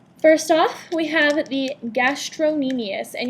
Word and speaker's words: gastrocnemius: First off, we have the gastrocnemius, and you'll notice that on your list it's spelled gastrocnemius. This is not a spelling error. It's just people tend to pronounce it gastrocnemius, but pronounce it however you need to remember how to spell it.